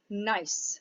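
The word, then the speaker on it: gneiss: high grade metamorphic rock nice with a silent g so when you're looking at a banded nice sample just know that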